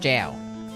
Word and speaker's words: Gale: Gale pronounced jail.